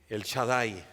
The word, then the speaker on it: El Shaddai: El kank Cómo se dice en hebreo omnipotente El Shaddai recuerdan muchos ese canto El Shaddai El Shaddai